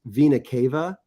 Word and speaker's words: vena cava: you know not not right now but so vena cava um what what vena cava is and it's actually pronounced vena cava it's actually like the big huge vein that